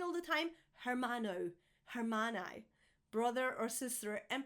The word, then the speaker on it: hermano: I hear people saying all the time hermano, hermana, brother or sister, and pronouncing the H. Just like in hola, you never pronounce the H, guys.